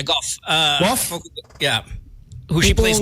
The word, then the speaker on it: Gauff: Gauff ba pag-pronounce nun? Yeah, Goff.